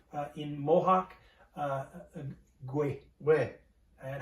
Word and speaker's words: Kwe: No, let me say in Mohawk, Gwe. Where? And how do we spell that for our viewers?